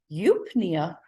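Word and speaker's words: eupnea: someone who has a respiratory disorder might have eupinea that's how it's pronounced is normal breathing no problems okay now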